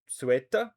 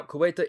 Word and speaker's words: Ceuta: The government of Spain is fully committed to providing an immediate response to the situation in Ceuta, I believe is how you say that.